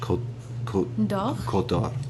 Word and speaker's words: Côte d'Or: Côte d'Or.